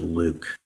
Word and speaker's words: LIWC: inquiry and word count liwc and we pronounce it Luke in the loop program